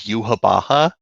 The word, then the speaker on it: Yhwach: Yuhawaka. Yeah, in the Japanese Okay. pronunciation is Yuhabaha.